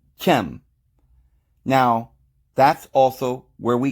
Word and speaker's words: Ham: they're talking about because this word ham should probably be pronounced chem now that's also where